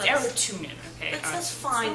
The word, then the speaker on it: Arutunyan: don't mind it if people mispronounce my arot tunan it's a tunin okay that's fine not